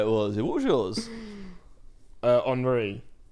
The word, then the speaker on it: Henry: Henri. Like Thierry Henry. Oh, nice. Yeah, nice. So it says Henry, but you have to pronounce it Henri for it to be accurate.